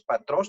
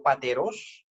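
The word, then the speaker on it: πατρός: Es patros, no pateros, patri, no pateri.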